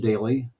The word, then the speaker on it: Doelle: at it please join me uh Daly if you look at his last name kind of an unusual spelling but it's pronounced oun daily well there we go hey there I am